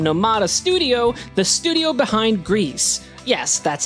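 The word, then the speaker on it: Gris: that comes from nomad Studio the studio behind Greece yes that's how it's pronounced at least one less mystery in our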